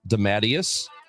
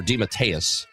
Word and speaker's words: DeMatteis: Louis, and we will talk more about that at 9:30 with Candace DeMatteis, or DeMatteis is how it's pronounced.